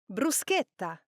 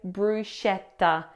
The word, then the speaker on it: bruschetta: It is bruseta. This is toasted bread with toppings. Please do not say bruschetta. Bruschetta. Uh uh uh bruseta. Bruseta.